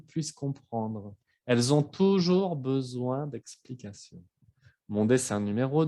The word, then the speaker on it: besoin: Y les puse la palabra besoin. Aquí ven que hay una sola S, se pronuncia como Z, y la OIN es como ouin, besoin.